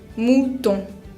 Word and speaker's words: mouton: Ustedes ya saben, como vimos, que la combinación de la O con la U suena U. Y ahora saben que la O con N se pronuncia on. Entonces, mouton. También la palabra savon, que